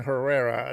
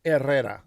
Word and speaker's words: Herrera: I really I hate saying Herrera. That's That's not how my name is pronounced. My last name is pronounced Errera.